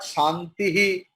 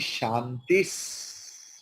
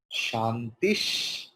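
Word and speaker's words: शान्तिः: It is Shantis. Shantis. Shantis. Okay. Because Visarga is following Shakara. So Visarga's pronunciation will be as Shakara. Shantish.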